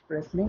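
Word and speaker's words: wrestling: রেসলিং ওয়ার্ডটার সাথে সবাই পরিচিত আছেন, ডাব্লিউ এর পর আর এস টি এল আই এন জি, তো সেক্ষেত্রেও একই নিয়মই প্রযোজ্য। এবার আসা যাক রোজ থ্রিতে।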